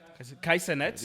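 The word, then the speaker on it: Kai Cenat: Kai Senet, Yeah.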